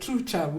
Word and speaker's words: Trucha: of fc leopards true is that how you pronounce it let's say through without the pose true without the pause so it's good